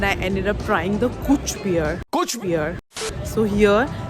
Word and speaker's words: cwtch: But then I ended up trying the Kuch beer. Kuch beer. So here the word Kuch spelled as CWTCH, which I found everywhere. Then I searched the meaning of it. So it pronounced as Kuch, and the meaning is cuddle.